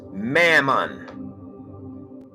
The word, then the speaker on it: Mammon: mom in this book they call it it's pronounced mammon sounds similar to me mammon mama that's why